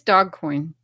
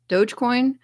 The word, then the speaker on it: Dogecoin: I don't think it's Dogcoin. Dogecoin.